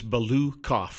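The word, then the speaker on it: Balukoff: How do you say it? It's Balukov.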